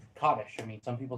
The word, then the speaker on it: Kaddish: Because I know like for instance like Kaddish.